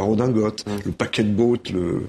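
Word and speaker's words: redingote: les mots d'hier comme riding coat qui était le manteau pour faire du cheval il sont entrés dans la langue en étant francisisé dans leur prononciation c'est la redingotte le paquet de bot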